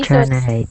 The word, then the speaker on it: generate: This is what we call a soft G. Generate.